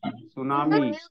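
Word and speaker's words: tsunami: यहाँ देखो टी को साइलेंट करो तो क्या आ जाएगा, सुनामी।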